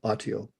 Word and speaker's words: Autio: So explain what Autio is. And Okay. forgive me for pronouncing it incorrectly.